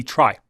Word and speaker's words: Trie: We have one last tree that I want to talk about. And that is a Trie, or a tree. Pronunciation here varies on who you ask, but let's have a look at what it is.